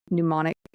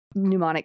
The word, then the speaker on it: pneumonic: especially when it's like pneumonic. Pneumonic plague, excuse me. Pneumonic. What? Anyway. I'm just pronouncing the P.